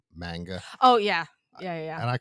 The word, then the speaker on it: manga: the way that we say something, if you Yeah. spell it out, it's Yeah. manga. But if you're saying it in Japanese, it's Manga.